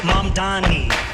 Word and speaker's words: Mamdani: this choice, and they obviously know nothing about Mamdani besides he's going to give everyone free shit. But yeah, they're very happy about this, and they're celebrating on TikTok. The name is Mamdani, M-A-M-D-A-N.